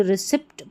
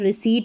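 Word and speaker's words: receipt: ये जो रिसीप्ट पढ़ते हैं कई लोग तो यहां पर पी साइलेंट होता है। रिसीट पढ़ना है आपको।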